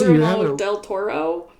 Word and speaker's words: Guillermo del Toro: Yeah, it's Guillermo del Toro.